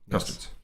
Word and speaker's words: custodes: is so I've been informed that the correct way to pronounce them mhm and in fact the only way that I will now pronounce him for this is custodes cust C custodes custards